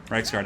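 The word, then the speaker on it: Reiksguard: aren't they well the reich's card nights just should be doing something more effective all right let's get you guys surging in there hammer into these storm berman pronounced rights card have gotten into the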